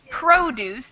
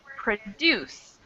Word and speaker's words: produce: stress is different so in the adjective form we have the stress on the first syllable and in the verb form stress on the second syllable produce and produce and